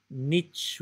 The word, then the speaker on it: niche: E lembro-me de trabalhar com um amigo australiano que dizia niche rhymes with rich.